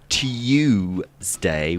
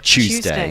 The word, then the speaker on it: Tuesday: Tuesday yeah yeah yeah people of our grandparents generation would have said tday with a Y in it whereas everybody now says CH Tuesday which is easier yeah go on silia